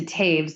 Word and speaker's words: Toews: And but yeah, my mother's name is Lowen or Laven, pronounced with this, similarly to Taves, the Oew, but Lowen Laven.